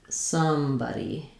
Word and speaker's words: somebody: So somebody sounds like somebody.